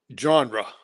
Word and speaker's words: genre: Now, what did your music genre say around my wife? She's going to let me have said it right. She's always telling me, says, you don't put a D on that. Okay. Genre.